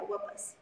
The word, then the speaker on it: Wa'paas: And can you tell us traditionally what these wapas are used for? Am I pronouncing it correctly? You can correct me. Yes, yeah, wapas.